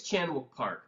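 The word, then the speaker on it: Chan-wook Park: say his name exactly I think it's chanuk park because Park is usually okay a last name fair enough fair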